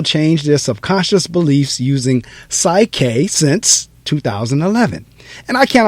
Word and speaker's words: PSYCH-K: that is how we say it i'm a psych k facilitator but i prefer to think of myself